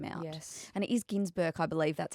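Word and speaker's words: Günsberg: And it is Ginsberg, I believe that's how you say. I know Even it's though not it's spelled that.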